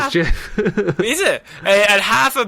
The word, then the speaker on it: Jif: A full bar of Jif peanut butter, or GIF if you want to say it wrong. I actually think it is Jif.